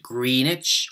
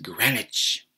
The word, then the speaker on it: Greenwich: Observatory in London yes they pronounce it Greenwich not green it's or Greenwich but Greenwich I'm sitting in the